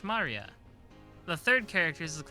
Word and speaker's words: Maria: Of course, like that, it's pronounced Maria.